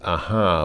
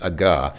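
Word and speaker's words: ага: of those situations where the H sound is converted into a G in in Russian and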